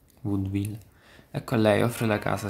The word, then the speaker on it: vaudeville: Vaudevilliano, come si pronuncia? Vaudeville.